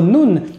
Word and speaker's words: ن: La lettre noun, c'est un petit peu comme le N en français. Encore une fois, on va avoir une différence qui est que pour la lettre noun en arabe, on va